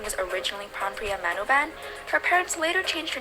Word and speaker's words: Manobal: Everyone knows her last name is Manoban, but did you know the correct spelling of her name is Manobal? If I actually said her name how it's spelled, then her name would actually be Lalisa Manobal.